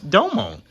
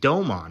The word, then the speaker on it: Domon: like yo when we grew up it was pronounce domone like that's how they said his name in